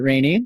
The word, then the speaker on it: Rainey: in Heat number two I have been corrected if I apologize from mispronouncing your name there Rainey my bad she comes